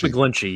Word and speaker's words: McGlinchey: to help me with that I know Mike mcclinchey from the 49ers right is that how you say his name a clinky or Mike's mcglinchey yeah okay love it but he's gonna cost